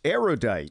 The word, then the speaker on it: erudite: probably pedantic but seriously a surprising number of erudite people mispronounce erudite which has 3 syllables not 4 say erudite not erudite because you are judged